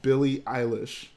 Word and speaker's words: Billie Eilish: Bro fam, it's pronounced Billie Eilish.